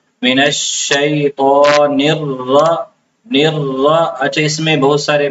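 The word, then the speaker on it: الشيطان: त में होती है त को बाज लोग मोटा नहीं करते इसको ता पढ़ लेते हैं। इसको मोटा करके पढ़ना है। मिन शैत मिन शैतान ता गलत है। ता पढ़ना बिल्कुल गलत है।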